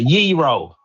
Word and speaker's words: gyro: However, the pronunciation from the Greeks, Pyrex, It's a euro. that's how they say it over there. That's how, if y'all wanted to know, because I know it's a highly debated topic, if y'all wanted to know, that's how they say it over there, okay?